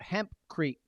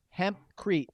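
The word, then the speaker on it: hempcrete: they were talking about hemp creek i don't even know if i'm saying it right michael your boy my boy michael yeah yeah yeah michael malcolm yeah um the hemp mask say that again hemp crete so it's like instead of concrete they can make a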